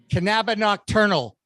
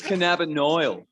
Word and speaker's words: cannabinoid: for cbn oh god hang on hang on cannabi nocturnal it's really close it's cannabinoid yeah yes you're funny i am i try